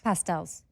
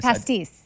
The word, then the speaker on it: Pastis: Pastels. Oh, No. It's Pastis.